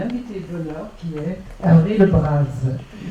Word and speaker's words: Le Bras: d'onheur qui est har Le Braz je prononce à la Bretonne je viens d'apprendre ça